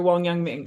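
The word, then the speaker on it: Wang Yangming: though I'm thinking of Wan yangang Ming or Wong y Ming right to to pronounce that name better right this idea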